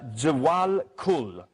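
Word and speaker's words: Djwhal Khul: around its sister Sirius Jal Kul I think is the name it's spelled djw h l k States scientists have not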